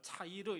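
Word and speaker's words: צעיר: 자, 여기서 작다라고 하는 말 차이르 이렇게 발음하는데 단지 숫자가 적다는 뜻만이 아니라 사람들 기대 밖에 있는 존재다, 그런 의미가 담겨져 있습니다.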